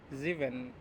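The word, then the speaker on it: sieben: সেভেনকে বলবে হচ্ছে জিভেন, সেভেনকে জিভেন। তার মানে হচ্ছে এখানে কি হচ্ছে, এস এর উচ্চারণটা আমাদের কিসের মতো হচ্ছে, জে এর মতো হচ্ছে। এস এর উচ্চারণটা হচ্ছে আমাদের জে এর মতো।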